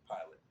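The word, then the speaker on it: Pilate: Uh like named pilot. Pilot like P I L O T. Like an actual airplane pilot is how you say pilot's name.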